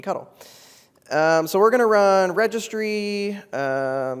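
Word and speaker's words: ctl: cuddle which is a command line tool it's pronounced cuddle there's no other pronunciation to interact with SED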